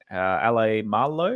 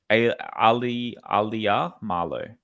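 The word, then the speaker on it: Alaimalo: David Clemmer, 146, and then Ale Marlow. Is that how you say it as? Alia Marlow. Alia Marlow. Yep. Okay, I'll practice that one.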